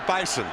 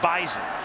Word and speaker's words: Bison: Not the Bison. Right. Right. It's a Z in there. Even though it's spelled with an S, it's Bison.